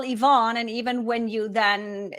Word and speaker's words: Yvonne: And I should be better because nobody ever knows how to pronounce my name, or they make going to Starbucks, grabbing a coffee. It's always Evan rather than Yvonne.